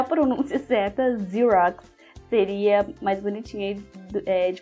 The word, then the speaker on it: Xerox: correta de xerose né cheirosos aí porque a gente né Tem esse essa pronúncia do X na língua portuguesa né então xerox mas